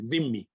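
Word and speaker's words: dhimmi: aux émissions prononce mieux la prononciation comme le DH en anglais Dimi et donc la team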